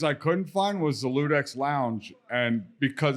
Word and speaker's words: Ludex: pronunciation is Ludex.